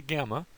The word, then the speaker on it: gamma: So there's the name, and it has the G sound unless there are two in a row. If you have double gammas, it's pronounced like an ing, an ing sort of sound.